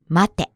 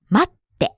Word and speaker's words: 待って: The first word is not 待て, but 待って. Right, there's a stop sound before that. て、待って.